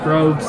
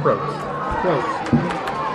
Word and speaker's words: Probst: How you pronounce it? 36. Number 36, Probst. Makes a lot more sense. I was wondering if he was silent and different.